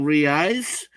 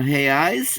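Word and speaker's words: reais: real real yeah realize well re-ice or hey ice is plural and real is like one but it's five to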